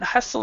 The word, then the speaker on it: hustle: so in this respect we do not say the T the t is silent hustle and Buel basically if